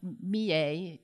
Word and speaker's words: Millais: Yeah, and we did have this debate during the symposium and Scholars Day also about Millais. I've always said Millais, but according to some specialists, his name should be pronounced Millais.